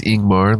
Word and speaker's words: Ingmar: Ingmar is pronounced Ingmar leading with a vowel sound.